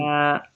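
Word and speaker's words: ث: সা, দেখুন সা, তার উচ্চারণটা কেমন করবেন? সা, আপনার যে জিভ আছে না, জিভের যে আগাটা আছে, ওই আগা আপনার সামনের উপরের দাঁতের আগায় লাগিয়ে দেন।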